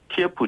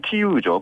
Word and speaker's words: 키이우: 근데 위성사진을 주말에 찍은 위성사진을 보니까 대규모 러시아군이 이제 수도 키예프, 이제는 키이우죠.